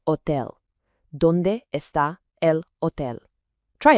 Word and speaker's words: hotel: But remember our rule about the silent H, so it's pronounced hotel.